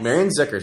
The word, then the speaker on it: Marianne Zickuhr: And today we have Marianne Zickuhr, right? Say it right. So yes. Marianne Zickuhr, who's the executive director of Preservation Louisville.